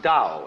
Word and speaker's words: Dao: call Dao that's pronounced Dao if it had an apostrophe after it it would be pronounced Tau but thou is more